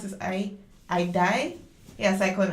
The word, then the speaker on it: Idai: Cyclone, how do you pronounce this? Idai? Yeah, cyclone Idai.